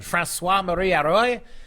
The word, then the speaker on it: François-Marie Arouet: François-Marie Arouet, I believe is how the French would pronounce it, 1694, born late in